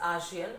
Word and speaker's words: ASEAN: Many of you pronounce it like Asian, but so far as we have learned, it is ASEAN, Association of Southeast Asian Nations.